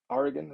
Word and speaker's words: Oregon: for joining us all the way from oregon oregon that's how you say it um not good at pronouncing the state names by the way apparently